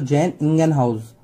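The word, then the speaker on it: Jan Ingenhousz: जैसे इन जैन हाउस, लेकिन इसका अगर पूरा प्रोनाउंसिएशन करोगे तो जैन इंगेनहाउस।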